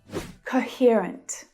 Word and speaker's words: coherent: Coherent. Coherent. I love this adjective. Can you hear where the stressed syllable is? Coherent. It's that ear vowel sound in the middle.